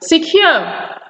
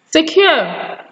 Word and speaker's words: secure: We also have the word secure. Secure. Secure. Secure, not secure.